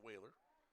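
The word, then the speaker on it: Wahler: Whaler is spelled W-A-H-L-E-R. Pronounced Whaler.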